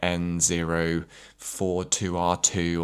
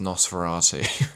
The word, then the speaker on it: Nosferatu: I think I was genuinely running around calling it N042R2 or something. I was getting the numbers completely wrong. And then my partner pointed out to me like, "You do realize it's pronounced Nosferatu." And I was like, "Okay,